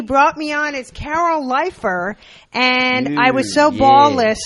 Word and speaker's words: Leifer: to Bud Freeman like he just mispronounced my name can you have him redo it it was like and now it airs you know it's on the DVDs please welcome Carol leer you ever heard Michael